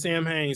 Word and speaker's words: Samhain: All right, so Sam Hain is pronounced Samhain.